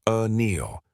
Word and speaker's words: Anneil: One, my name is Anneil, pronounced Anneal.